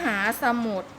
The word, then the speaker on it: มหาสมุทร: มิ่งมิตร อ่าน ว่า มิ่งมิตร มหาสมุทร อ่าน ว่า มหาสมุทร บัตร เครดิต อ่าน ว่า